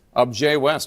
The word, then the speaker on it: Objet West: Am I pronouncing this correctly? Objet West? Is it Correct. Objet West. That's very fancy for Wyoming.